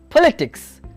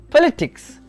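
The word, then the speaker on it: political: Then we have politics, politics, the stress on the second syllable.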